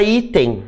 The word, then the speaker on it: item: Os alunos sempre perguntam assim, a palavra item, né? A palavra item não leva acento nunca, né? Nem no singular e nem no plural, né? Item, qual é a sílaba tônica? É o I.